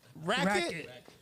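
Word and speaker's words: Raickett: clapping for Stefan racket how you say your last name racket that's how but it's how you spell it's spelled r a i c k e t t is that like say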